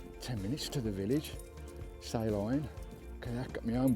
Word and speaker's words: Salen: It's spelt Salen, but it's actually Salen. Salen and Salen.